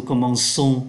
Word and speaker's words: commençons: Nó viết là C, nhưng mà nó đọc là S.